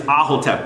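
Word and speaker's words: Aahotep: Her name is Ahotep, Queen Ahotep. It's spelled A-A-H-O-T-E-P.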